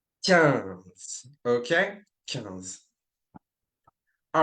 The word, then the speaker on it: quinze: Don't pronounce it quinze, but 15.